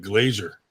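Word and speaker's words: Glaser: I type that in it autocorrects to like Glazier even though that's how it's pronounced it tries to like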